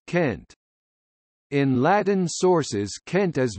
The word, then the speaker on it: Cent: Cent, Cent Lond, Centries, all pronounced with a hard C as Kent.